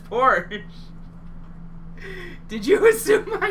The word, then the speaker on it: Porsche: Oh yeah, I'm a stickler for Porsche being pronounced properly. Porsche, dude. What it's not Porsche. It's Porsche.